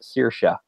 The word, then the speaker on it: Saoirse: of stuck with me that her name is Saoirse but I yeah it's kind of Sanibel cuz